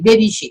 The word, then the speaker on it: Baby Shea: et moi même non Baby Shea et il pas difficile pour prononcer c'est Baby et puis Shea prononciation très facile Baby Shea.